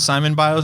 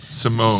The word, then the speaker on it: Simone: Is it Simon Biles or Simone? Simone.